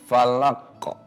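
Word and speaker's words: الفلق: Karena ada hukum qalqalah jadi dibacanya falaqo.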